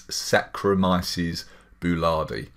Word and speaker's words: Saccharomyces boulardii: again for people that aren't sure how to pronounce it it's Saccharomyces boulardii and as a nutritionist in in our health